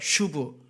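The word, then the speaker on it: שׁוּב: 한번 같이 발음해 볼까요? 슈브. 네, 튜브가 아니고 슈브.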